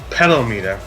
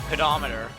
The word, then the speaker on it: pedometer: him at all heos pedal meter what kind of name is that for a thing that count your steps pedometer is how it's pronounced yeah that's how you